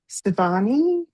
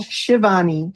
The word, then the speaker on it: Shivani: And we have Sivani. Did I say that correctly? Cool. Savani, Pronounce go ahead. Shivani. Shivani.